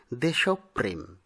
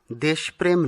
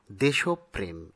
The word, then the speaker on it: দেশপ্রেম: পরেরটি হবে দেশপ্রেম, দেশপ্রেম নয় দেশপ্রেম, এটি হবে সঠিক উচ্চারণ।